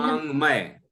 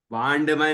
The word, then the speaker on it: वाङ्मय: ओम अक्षराद खिल वांगमय। वांडमय नहीं, डा नहीं है। वांगमय। वांग। ठीक है, वांगमय।